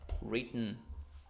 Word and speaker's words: written: okay if you want you can try to swallow the final sound what is swallow it just go gulping it okay so it doesn't sound it sounds like like as if it came from your throat so not written but